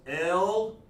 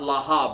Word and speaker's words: Laah: No means L-A-A-H. La-ah. Like that. Okay? And of course, Khan is K-A-N. That's what these words mean. Okay? Yes and no. All right? No problem doing that. There we go. Okay? You get that, sis? La'ah, Yeah, not Laha, but Laah.